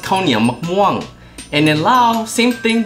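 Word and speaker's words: ข้าวเหนียวมะม่วง: In Thai, it's pronounced Khao Nia Mok Muang.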